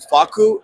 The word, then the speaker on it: FAKKU: It's called excuse me, I have to say Faku. It's FAKKU. So I'm not saying the other one, but Understood. that's how that's spelled.